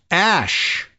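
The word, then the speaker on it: Æ: It's just X, the letter X, and then the AE is pronounced Ash.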